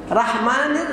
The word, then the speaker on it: রহমান: বিসমিল্লাহির রহমানির রহমানির আমরা অনেকে রাহমান পড়ি তাই না কি হবে রহমান রহ রহমানির রাহমানির রাহিম রাহিম আমরা অনেকে রা পড়ি না র হবে র শব র আকার দিয়ে বলবেন না রাহমানির রাহিম না রহমানির রাহিম